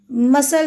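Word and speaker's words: مثل: मसल जब कहानी या कहावत के मानों में या प्रोवर्ब ज़ब मसल के मानों में हो तो यहां पर मीम पे ज़बर होगी। से पे ज़बर होगी और लाम साकिन होगा और फिर जनम।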